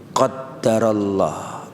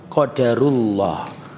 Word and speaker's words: qadarullah: dia dianjurkan mengatakan apa qadarullah atau qodarullah bisa bacanya qadarullah bisa bacanya apa ya Enggak boleh itu qadarullah ada tasnya memang wong Indonesia itu kadang-kadang sulit moco tasydid ada kisah Saya mau